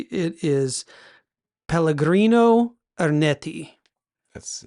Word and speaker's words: Pellegrino Ernetti: yeah, it's involving a priest named let me see if I can pronounce this correctly. It is Pellegrino Ernetti.